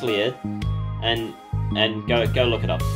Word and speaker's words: Lied: Elfen Lied, look it up, Elfen Lied, it's spelt like Elfen Lied, but it's pronounced Lied, and go look it up, like, then come back here and tell me that anime is not mature, alright?